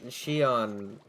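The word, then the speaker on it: Xion: so I can't uh count her um uh she on that's spelled x i o n also from Kingdom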